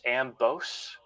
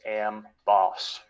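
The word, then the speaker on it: Amboss: correction from earlier uh i was calling am boss ambose but it is pronounced am boss so that's justifier's lightning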